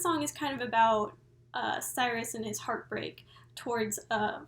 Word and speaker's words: Sirius: I have to apologize it's pronounced Cyrus okay so sorry I've been saying Sirius but in my defense is spelled serious okay it's si RI u.s.